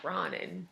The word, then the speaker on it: Ronin: She said it right. It's Ronin. It is wrong is what it is.